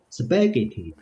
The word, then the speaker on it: spaghetti: word done SPH right spaghetti spaghetti spaghetti yeah spaghetti spaghetti yeah the emphasis is on second the second yeah the second syllable spaghetti spaghetti spaghetti spaghetti